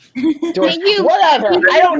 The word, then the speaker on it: Deutsch: And it's pronounced Deutsch. Deutsch. Deutsch.